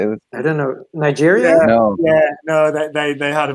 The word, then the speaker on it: Niger: Nigeria?